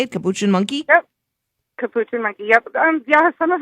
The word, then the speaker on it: capuchin: Capuchin monkey.